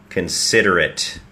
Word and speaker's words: considerate: ใหม่ ครับ นะ ฮะ ต้น คำ เนี่ย สะกด ว่า C O N แต่ ไม่ ได้ ออก เสียง ว่า ค นะ ครับ ออก เสียง ว่า K นะ ฮะ เพราะ ว่า ไม่ เน้น พยางค นะ ครับ จึง กลาย เป็น เสียง เออะ ฮะ considerate แล้ว เน้น พยางค